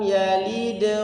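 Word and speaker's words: يلد: Kemudian ayat yang ketiga, lam yalid wa lam yulad. Yang pertama qalqalahnya qalqalah sughra. Yalid seperti itu. Ya, dan dia enggak putus. Jadi membacanya bukan lam yalid wa lam yulad, tapi langsung disambung.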